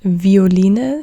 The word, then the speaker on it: Violine: Here it's pronounced like a W because this comes from, I don't know, Latin or Italian. This is not the typical German word. That's why you say it with a W sound.